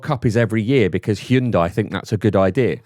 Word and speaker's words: Hyundai: Respect How do you say it? Korean Hyundai. Hyundai.